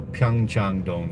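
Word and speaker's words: Pyeongchang-dong: Okay, so Pyong Changdong, you can you can look that up on your Google map.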